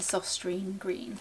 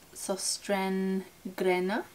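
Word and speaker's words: Søstrene Grene: I picked up in my recent trip to Sostrene Grene. And I know I've butchered that pronunciation of Sostrene Grene, but that's alright.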